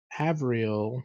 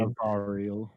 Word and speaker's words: Avariel: Upon entry to the ziggurat, they find a mysterious Avriel. Is that how you say it? Avriel woman, accompanied Avariel.